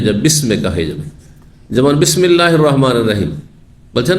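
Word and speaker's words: بسم الله: ছিল আসলে কি ছিল বিসমিল্লাহির রাহমানির রাহিম আল্লাহ নামে শুরু করছি তো মাঝখানে পড়ার কারণে হামজাটি সেখানে মিলিত হয়ে গেছে ওয়াসল যেটিকে বলা হয় উচ্চারণ হয়নি আর আরো অতিরিক্ত লিখাতে হালকা করার জন্য লিখনী থেকেও সরিয়ে দেওয়া হয়েছে।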